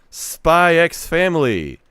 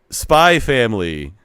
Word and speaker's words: Spy x Family: Nah, the X has to be there. Whoops, how do you pronounce this title? Ask Elon Musk. I've been coaxed into saying Spy Family, but I feel like it should be Spy X Family.